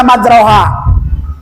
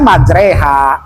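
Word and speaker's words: مجراها: Tulisannya majroha. Kalau tidak tahu, pasti dibaca majroha. Nah, ada di surat Al Baqarah kalau tidak salah itu. Majre, harusnya baca majreha.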